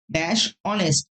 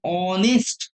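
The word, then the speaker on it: honest: কারণ অনেস্ট এইচ হলেও এইচ এর উচ্চারণ প্রপারলি আসছে না।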